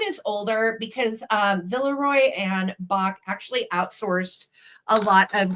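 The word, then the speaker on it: Boch: Some people pronounce it Bosch. I looked online and it says Bach.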